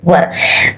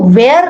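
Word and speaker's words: were: तब आपको लगाना है वर। आप ध्यान देना कि इसे आपको दोस्तों वेयर नहीं बोलना है, इसे आपको बोलना है वर। इसका करेक्ट प्रोनाउंसिएशन है गाइस वर, न कि वेयर।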